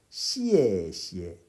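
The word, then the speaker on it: 谢谢: 시에 시에 리.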